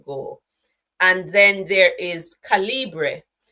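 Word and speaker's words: Calibre: and then there is calibra now or are you or k yeah I think it's caliber it's pronounced this one can give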